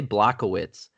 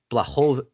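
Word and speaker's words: Błachowicz: So I used to say Blachowicz, but it's Blachowicz or Blachowicz. I've heard it multiple ways. It's Ovich? the ch is soft. Okay, It's just the h. Yeah, that's fine. Blachowicz.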